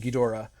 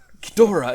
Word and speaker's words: Ghidorah: in the show era, the O is very, very glided. It's Ghidorah. It's not. Ghidorah. It's not gone. There's definitely kind of a third syllable there in the middle. I mean, it's a D and then a flapped R. Like, you got to put something between it.